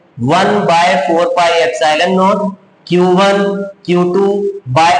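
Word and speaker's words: epsilon naught: तो अब बात ये है कि इसको सबसे पहले तो प्रोनाउंसिएशन में इसमें कभी कभी प्रॉब्लम आती है। इसको एप्सिलॉन नॉट कहा जाता है, दिस इज एप्सिलॉन नॉट।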